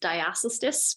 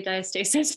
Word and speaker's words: diastasis: about the pronunciation so you might also hear it as diotis but we both agree that we like to say diastasis instead um so I have